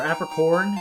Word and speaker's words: Apricorn: I forget if I have to leave or he just can tell I don't have an apricot or apricorn.